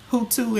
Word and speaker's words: Hutu: We talked about things that happened in our lifetime, like when we were younger, about the Hutu, and it's pronounced Hutu and Tutsi.